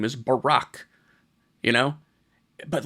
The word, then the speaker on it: Barack: And they always say his name wrong. Barack Barack Obama. It's like, if if the homie calls himself Barack, I'm going to call him Barack.